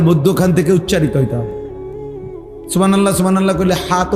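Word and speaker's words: سبحان الله: সুবহানাল্লাহ। সুবহানাল্লাহ কলে হাতো উচ্চারণ হয় না।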